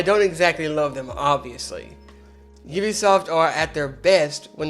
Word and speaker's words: Ubisoft: named it Ubisoft or ubiquitous software so it's pronounced Ubisoft not Ubisoft their first few games were released in the